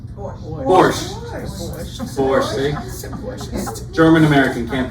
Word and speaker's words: Borscht: It's the Borscht. Borscht. German American, can't pronounce.